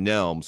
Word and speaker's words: Nelms: as it's gonna get all right and it's pronounced Nelms right yes all right all right everyone time